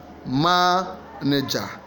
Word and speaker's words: manager: C realization D engineer the answer is B manager manager the first stress is what the main stress is in the first one the primary stress in